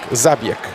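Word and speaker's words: Zabjek: Забьек. Нина Забьек. Правильно так фамилия произносится.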